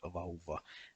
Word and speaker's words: vauva: is pronounced as sauva with a long V sound, and also the word vauva and the name of Kouvola.